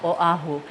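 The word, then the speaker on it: Oʻahu: oh you over yeah Oahu that's a hard one because there is no okina before the o and it's very hard to glide into that oh or yeah uhhuh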